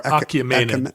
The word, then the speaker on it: Achaemenid: How is that pronounced? Achaemenid? Achaemenid? I've never had to say it. Oh, it doesn't have an R. Achaemenid.